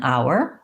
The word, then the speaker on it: hour: sound and our er so again the h is silent an hour these two are the